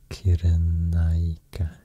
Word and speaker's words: Cyrenaica: I think if you want to pronounce it like in Latin, how it was pronounced in Latin by this time, I think you just should basically read it, all the letters, pronounce them as they are, and all the C will be K sound.